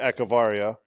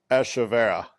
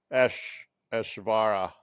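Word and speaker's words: Echavarria: We accentuate the ek or the etch, and they slow play it, and it's like a Eshvara or something like that.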